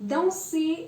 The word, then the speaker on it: danser: Danser means to dance. Now the pronunciation of OI.